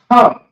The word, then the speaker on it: Ham: So you have a Ha, then you have a Ma. It's connected. It's pronounced Ham.